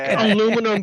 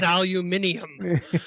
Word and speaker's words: aluminum: there's just certain words that are not exactly pronounced the same so it's got to be very difficult for you like aluminum versus aluminium aluminum aluminium wow aluminium in English yeah aluminum